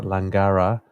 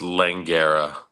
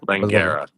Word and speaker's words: Langara: 46 over Brian briet that's langara not langara um for for the pronunciation of the writing oh sorry yes langera langera okay Ryan brette uh